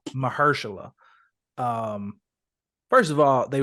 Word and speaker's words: Mahershala: um Michelle how do you say his name Marshall mahershala um first of all they wasted him in